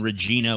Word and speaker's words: Regina: Saskatoon I live in Regina which runs I enough on Regina okay Regina Regina Regina or Regina doesn't rhyme with fun well they're saying it rhymes with vagina they're saying that synonymous